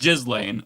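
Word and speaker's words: Ghislaine: I I'm more mature, so I'm going to pronounce her name the way it is. It's just Jiz Lane.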